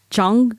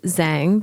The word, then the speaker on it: Zhang: Well, it's funny because for the longest time, people said Zhang because and then I started to say Zhang.